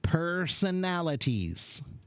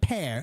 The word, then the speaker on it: personalities: much better good and personalities personalities per personal not peir per personalities personalities yeah so the word p r is just per per yeah personalities that's